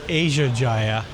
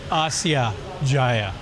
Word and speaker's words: Asia Jaya: Well, I found out on the train that this station is not called Asia Jaya. It's pronounced Asya Jaya.